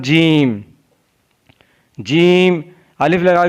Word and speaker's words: ج: जीम, जीम ज़बान के दरमियान और तालु के दरमियान से अदा होता है। जीम is pronounce from the middle of the tongue and the middle of the palette.